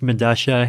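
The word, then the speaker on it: Medellín: I believe it's pronounced Medasha. It's a South American subway station. I forget where. But spelled with two L's. Yeah, because that's that's how Spanish works, right? Like the two L's have Medasha.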